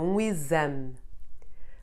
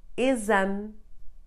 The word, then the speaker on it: exame: X is read like z whenever it is preceded by the letter E and followed by any vowel. It will be the first letter of a syllable, but having an E behind, forcing the sound of the X to become z. So words like exemplo, exercício, exame, or exausto are all read with the z sound.